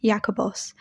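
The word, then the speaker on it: Ἰάκωβος: In Aramaic, his name would have been pronounced Zavdi, and in Greek, Jakobos.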